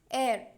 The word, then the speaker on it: heir: I am saying honest, hour, heir. So here the letters are consonants but the starting sound is of a vowel.